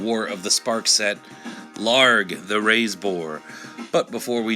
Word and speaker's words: Ilharg: like to clarify that I pronounce it larget not LR again you know come